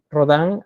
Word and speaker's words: Rodin: no es rodin es Roldán y ahí se pronuncia como como como rodan hace este proyecto un proyecto bastante Monumental pero